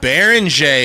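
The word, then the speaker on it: Beringer: Baron is how you say it.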